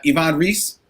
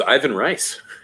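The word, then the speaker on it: Ivan Reis: say i like uh yvonne reese um i do like his superman reese is that how that's pronounced i thought so no i thought was ivan rice oh ivan rice oh okay i mean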